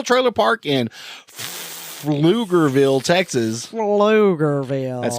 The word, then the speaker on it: Pflugerville: Pflugerville. That's spelled with a P, not an F.